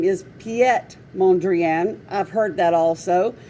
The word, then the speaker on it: Piet: say his name is piet mondrian i've heard that also but that's because they're trying to pronounce the name pete by what they see p-i-e-t piet and but in reality